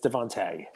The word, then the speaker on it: DeVonta: It's spelled Devonta, but it's Devontae.